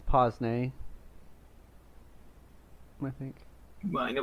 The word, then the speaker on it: pince-nez: Yeah, it's pince-nez, I think. Well, I know what you're talking about. Pince-nez.